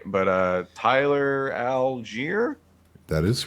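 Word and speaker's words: Tyler Allgeier: can never say his name right but uh tyler algiere that is right okay it is right okay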